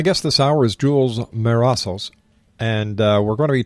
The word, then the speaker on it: Mesaros: Now, I think I pronounced your family name wrong. It's Mesaros, am I right? You're right.